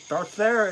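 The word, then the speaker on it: deartháir: the dear there okay it's pronounced dear there uh hafgan sent me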